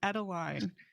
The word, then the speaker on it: Adeline: it comes from I I just want her to be Adelaide from Over the Garden Wall but it's ateline I'm so sorry so